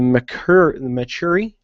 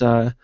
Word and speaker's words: Mechari: So you have the Dominion, which has the Cassian, the Draken, the Mechuri. I can't pronounce it right. It's Mechari, and it's the Chua.